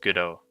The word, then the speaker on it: Godot: but it's pretty good apparently godot is pronounced go dot as in robot i think it's pronounced good oh but i may be